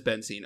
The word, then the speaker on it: benzene: So, as far as what we're going to make with the benzene, I know I'm mispronouncing that. No, it is benzene.